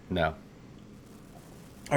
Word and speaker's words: Noita: of which how because I would pronounce this NOA so how did you pronounce it I pronounce it NOA just like you did it is no it is NOA correct it's finish for witch okay and all of